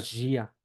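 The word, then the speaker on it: dia: Y dos, cuando va con I, siempre se pronuncia J, ¿sí? J. Entonces, vamos a ver, por ejemplo, la palabra Gia, ¿sí?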